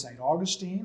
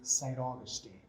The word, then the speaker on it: Saint Augustine: of the city of saint augustine is spanglish rather than sand we have saint we spell it as if it was in english but we pronounce it as if it's in spanish okay and then we